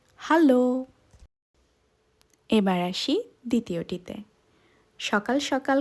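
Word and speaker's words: Hallo: কে জার্মানিতে বলে হ্যালো আপনারা চাইলে বানানটাও নোট করে রাখতে পারেন এটা একটু আলাদা অর্থাৎ উচ্চারণটা হবে হ্যালো এবার আসি দ্বিতীয়টিতে সকাল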